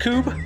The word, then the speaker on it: Kubb: Do you know that it's pronounced Kubb?